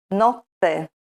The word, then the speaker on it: notte: lettera doppia cambia significato Per esempio vediamo cane l'animale domestico e diverso da Canne le canne di bambù casa e diverso da cassa casa cassa note notte Polo pollo sera e Serra per le